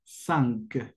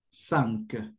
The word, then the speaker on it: cinq: Se escribe así, como zinc, pero la pronunciación será de esta forma: cinq, cinq, cero, un, deux, trois, quatre, cinq.